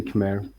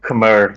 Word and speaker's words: Khmer: i think it's pronounced mai you say mai but i always say khmer okay westerners call it khmer right yeah but yeah